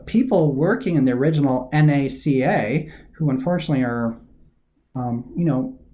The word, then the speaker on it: NACA: said in the slide NACA you pronounce each letter of the National Advisory Committee for Aeronautics individually when you say NASA National Aeronautics and Space Administration you pronounce it as a single word this is a small